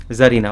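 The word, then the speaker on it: czarina: ঠিক আছে, জারিনা, জেড এ আর আই, সি জেড এ আর আই এন এ সি, এর উচ্চারণটা হয় না, মিউট থাকে, জারিনা।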